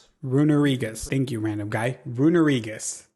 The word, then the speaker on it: Runerigus: Runerigus. That's how you say it.